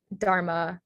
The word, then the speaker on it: dharma: that h is silent dharma h is silent samad gymkhana poncigar so